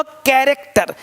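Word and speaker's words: character: कैरेक्टर, का यहाँ भी CH भी का है, तो ये पढ़ते पढ़ते आएगा।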